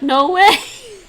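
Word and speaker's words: 挪威: Norway, Yes, in Mandarin, they pronounce it like no way.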